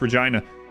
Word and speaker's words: Regina: pronounce that it is it's not Regina it's Regina anyway um the uh it's a place in Canada look it up oh